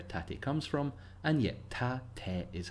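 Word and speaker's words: 縦: yes that one now again if you say tate fine I'm not asking anybody to change but the japanese pronunciation is break it down tap-tap there's a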